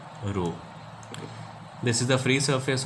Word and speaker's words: rho: This is a Greek symbol, we pronounce it as rho.